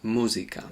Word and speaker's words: música: Now the same happens with music, we say music. In Spanish it's música.